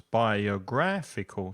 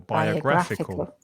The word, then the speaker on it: biographical: movies uhuh biographical movies tricky word five syllables biographical stress the third syllable biographical biographical great okay so